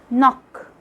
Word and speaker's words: knock: is quite easy letter k is silent when it comes at the beginning of a word followed by an n like when you say knee knock knob no knight which